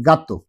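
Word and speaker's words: gato: যদি জি এর পরে ই এবং আই থাকে তাহলে এটা উচ্চারণ হবে খর মতো, আর যদি না থাকে তাহলে উচ্চারণ হবে গড় মতো।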